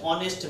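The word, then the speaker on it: honest: এ হি is dash অনেস্ট ম্যান এইচ থাকা সত্ত্বেও এইচ এর মতো উচ্চারণ না হয়ে ভয়েলের মতো উচ্চারণ হয়েছে এই কারণে এখানে তোমার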